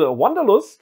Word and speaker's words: Wanderlust: Pack des Studio erscheinen ich habe jetzt extra englisch ausgesprochen weil Wanderlust ist glaube ich einer von diesen Begriffen die so aus dem deutschen genommen wurden weil es dafür auf